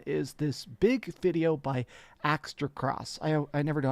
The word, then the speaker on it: Aztecross: this big video by axter cross I I never know how to pronounce this guy's name but essentially it's AOSS Aztec azte aztecross it's not difficult it's as to cross he got an email